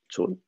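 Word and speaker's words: צאן: Là, ce qui s'est passé, c'est que le scribe s'est dit, bon, bah, le Aleph, de toute façon, on ne le prononce pas, Tson, donc je l'écris Tson.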